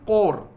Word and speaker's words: corps: ये आप समझिएगा, इसमें इंपॉर्टेंट बात ये कि ये जो वर्ड है CORPS, इस वर्ड को आप कॉप्स नहीं बोलेंगे, इसका जो सही प्रोनाउंसिएशन है वो है कोर, CORPS। एक बार फिर से सुन लीजिएगा, ध्यान से समझिएगा, इसको कोर बोलते हैं, तो आप इसको कोर बोलेंगे।